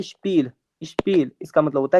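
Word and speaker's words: Spiel: इसका मतलब हो जाता है स्पील।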